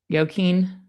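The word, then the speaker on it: Joaquin: of the San Is it How do you pronounce that? Yoquin? Yeah. Yoquin.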